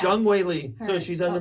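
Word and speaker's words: Zhang Weili: How do we say her name? Oh, Jung Wei Lee, or I think her. it's Jung Wei Lee.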